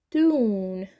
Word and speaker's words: tune: Então, tune é uma sílaba só. Esse E tá aqui só pra que a gente pronuncie you e não igual sun, né? Sun. S-U-N. Sun. Fica som de E. Quando a gente bota o E no final, fica com som de you.